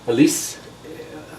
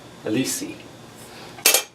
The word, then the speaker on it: Alessi: And it's spelled Assini, I think it is. Alessi, A-L-E-N-S-S-I. Alessi.